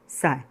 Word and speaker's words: psi: और इनका इक्वेशन होता है, इस इक्वेशन में है देखो, H इसे कहा जाता है साई इज इक्वल टू ई साई, जहाँ पे H एक्चुअल H पे ऐसा दिखाया गया है।